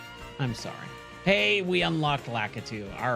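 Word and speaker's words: Lakitu: Hey, we unlocked Lacatu. All right. So, I remember as a kid I did not know how to pronounce Lacatu's name. So, I believe I always called him Litu.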